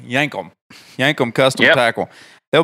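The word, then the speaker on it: Yankum: t-shirts if anybody's wondering what yank them how to spell it it's y-a-n-k-u-m it's literally yank them yank them custom tackle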